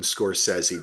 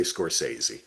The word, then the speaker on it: Scorsese: For those of you who have not yet watched the five-part Martin Scorsese documentary on, Mr. Scorsese on Apple. yes, Mr. Well, I like to pronounce it Scorsese.